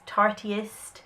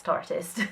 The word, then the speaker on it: Tartist: Different people seem to pronounce this different. I've heard it's tartiest. Tarteist. I'm sure the pun is artist Tartist. So we're going to go with Tartist. On this channel it's Tartist.